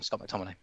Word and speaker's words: McTominay: Oh, I get his name wrong. Yes, Scott McTominay.